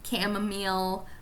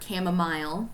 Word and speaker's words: chamomile: Like, for instance, lavender tea, chamomile or chamomile, depends on how you say it, hibiscus tea.